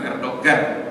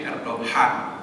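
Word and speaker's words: Erdoğan: Jadi kilij arolu sebagaimana Erdohan enggak boleh g-nya bunyi. Bukan Erdogan tapi Erdoghan seperti H seperti hikmah.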